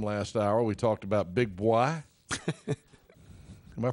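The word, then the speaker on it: Big Boi: We talked about Big Boy. Am I pronouncing that right?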